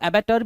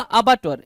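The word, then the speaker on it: abattoir: कुछ लोग अबाटॉयर भी पढ़ते हैं, कुछ लोग एबाटर भी पढ़ते हैं, ठीक है।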